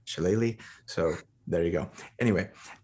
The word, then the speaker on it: shillelagh: like, unless you're going to go like a Shillelagh build. And yes, I pronounced it right.